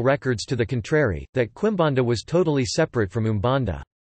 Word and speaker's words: Quimbanda: Quimbanda Portuguese pronunciation, KBD, is an Afro-Brazilian religion practiced primarily in the urban city centers of Brazil.